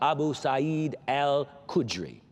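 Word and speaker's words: Abu Sa'id al-Khudri: Abu SED Al kudre that's AB U sa apostrophe i d a lyen k h u d r i my pronunciation my best shot Abu s Al kudri the prophet said now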